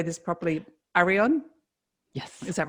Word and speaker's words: Areon: i don't know how to say this properly ariane yes is that right yes yes the liberian